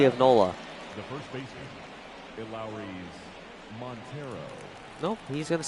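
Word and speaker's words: Elehuris: The first baseman, Lowry's Montero.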